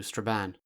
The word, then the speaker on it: Strabane: of the Finn to Strabane, like Linan, pronounced to rhyme with fan.